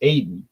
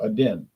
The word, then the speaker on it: Aden: from Yemen South Yemen Aden I thought it was pronounced Aiden Aiden but she says pronounced Aden she's from there she